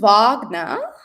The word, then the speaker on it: Wagner: Tim Vagnner, which he had to teach me how to pronounce is the founder is a founder.